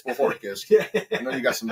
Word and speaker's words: Bohorquez: They'll probably tell you Bajorquez, but it's Bohorquez.